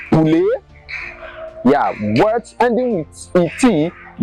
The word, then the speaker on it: poulet: Words ending with ET are also pronounced as A, like poulet.